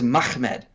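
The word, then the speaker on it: מחמד: arabic and syriac pronunciations the real way you would pronounce this word is mahmed uh you would not add an additional syllable in there uh because there's not there's no original letter in there that would be between the and the second mem to get you there it's like our english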